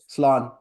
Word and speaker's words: Slán: Slán.